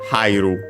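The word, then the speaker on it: 入る: of iru to enter, we use hairu, which actually is accented and on the first syllable, so be careful, because then in that case hai is considered a diphthong, I. So that's why it's accented on the first syllable, and so third to last, and like second to last as usual.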